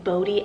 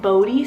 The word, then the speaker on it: Bodhi: And then another boy's name that is just near and dear to my heart right now is the name Bodhi Atlas. So it's spelled BODHI, and then Atlas, ATLAS.